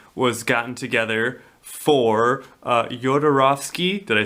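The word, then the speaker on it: Jodorowsky: the sci-fi team was gotten together for uh Yodarovski. Did I say it right? Yodaroski.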